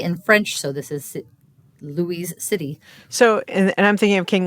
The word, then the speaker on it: Louis: So the city was named for King Louis in France, Louis XVI. And so in French, he would have been Louis, or Louis is the best English approximation of that word.